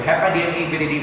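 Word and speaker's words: Hepadnaviridae: That is, of course, part of the family Hepa DNA Viridae family. Ayan, diba? So, same with Picorna Viridae. I pronounced it before as Hepadna Viridae.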